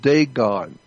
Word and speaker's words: Dagon: The Catholic Church, when you see the Pope, he represents the worship of Dagon. It's spelled D-A-G-O-N, Dagon.